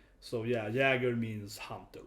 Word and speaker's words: Jäger: Oh, I say Jaeger for some reason, speaking English, but Jäger. It's a German name or a Swedish name, right? So it's pronounced Jag, the A sound, right?